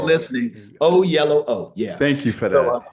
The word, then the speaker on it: Oyelowo: always tell people this, it's the last time you'll ever have to hear it and not know how to say it. It's David O Yellow O. So the colors in the middle.